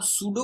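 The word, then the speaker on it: pseudo: अगर नोटिस करें तो मैं पी को साइलेंट कर रहा हूं तो पी साइलेंट है सूडो नहीं है सूडो क्लास इसको रीड आउट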